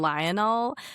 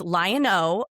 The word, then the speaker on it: Lion-O: Everyone calls him Lionel. And I'm like, it's Lion-O, okay?